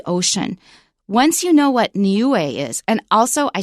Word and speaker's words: Niue: how to pronounce it we've got three vowels and each one is pronounced separately so it's nuu Nu and so when